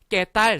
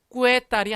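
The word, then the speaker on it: Qué tal: 깨딸 스페인어죠? 그 깨딸 할 때 깨가 이렇게 쓰거든요. 꾸에딸이 아니라 깨딸 스페인어입니다.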